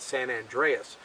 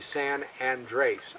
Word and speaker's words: San Andres: Andrews limestone or the San Andres formation it takes its name a lot of people mispronounce it they call it San Andreas but it's actually San and race andr es it's named